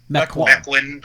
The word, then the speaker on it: Mequon: Latreille, lives up in is it pronounced Mequon? Mequon. Yeah, Mequon.